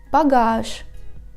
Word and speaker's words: багаж: Or багаж. We write Ж, but we pronounce Ш.